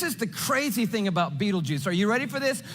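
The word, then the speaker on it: Betelgeuse: It's called Beetle Geese or Beetleju. You can pick your pronunciation. I'm obviously going with Beetlejuice.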